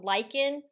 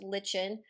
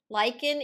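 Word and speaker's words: lichen: talked about lyans being a pioneer species so Lykan is a vocabulary word that you've seen before not pronounced Lin Lykan is a combination of a fungus and an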